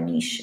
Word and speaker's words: niche: the ecosystem really unique that's the niche or niche if you wanna use the french pronunciation okay bioaccumulation so kevin